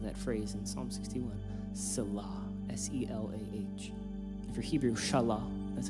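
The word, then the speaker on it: Selah: the end of that phrase in psalm 61 salah s-e-l-a-h for hebrew that's how you pronounce it fun fact we don't really know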